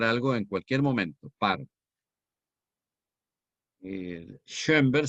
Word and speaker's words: Schoenberg: Schoenberg se escribe con S-Che y dos puntos en la O. Schoenberg, terminado en G. Berg, con B. Schoenberg.